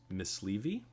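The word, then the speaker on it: myśliwy: And then you said Mysliwi. Yes. That is the Polish word for hunter. So if you are... Wow, we didn't know the W is pronounced like a V.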